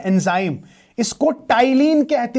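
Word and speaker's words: ptyalin: और इसमें सर एक इंपॉर्टेंट चीज है एंजाइम, इसको टाइलिन कहते हैं। Don't say पटाइलिन, इट इज नॉट पटाइलिन, इट इज P silent, so इट इज टाइलिन।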